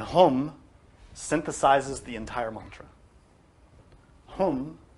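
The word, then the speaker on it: हूं: synthesizes the entire mantra hum sounds like om right it's almost the same but it has an h the h is the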